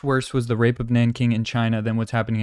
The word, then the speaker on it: Nanjing: And there's a city called, I think it's Nanjing, or they say Nanking, how they used to pronounce it, but anyways.